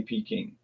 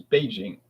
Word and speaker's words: Beijing: And they will say peing but the government approved pronunciation is Beijing.